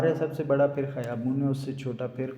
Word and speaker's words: خیابان: اس کو خیابان کہتے ہیں اور اسے خیابون پڑھتے ہیں. میں پچھلی کلاس میں بتایا تھا کہ الف کو بہت ساری جگہ واؤ کا تلفظ دیتے ہیں.